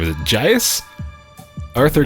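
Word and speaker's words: Gies: Is it Gus? Arthur Geese.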